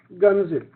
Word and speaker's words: gunzip: Actually, it's G unzip, brother Zafar. So it's the way we pronounce it. Otherwise, it's not gunzip.